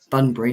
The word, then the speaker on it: Bunbury: Bunbury, not Banbury. Bunbury. Bunbury. I was saying it wrong.